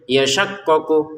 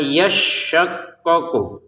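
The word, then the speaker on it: يشقق: Jangan kita bacanya yasyaqqok yasyaqqoku. Ah syinnya kan harus ditekan yasya ya. Habis itu syaqqo. Jadi ya ke sin yasya syin ke qof syaqqo. Jadi cara bacanya bagaimana? Lama yasyaqqoku.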